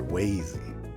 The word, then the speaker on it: Wazy: been acting separately from Wy quite often lately or I'm sorry wazy Wy is the correct pronunciation of his name uh